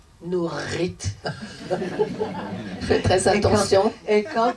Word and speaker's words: Nurith: prononces quand tu mon nom comment tu les prononces nourrite fais très attention et quand tu quand tu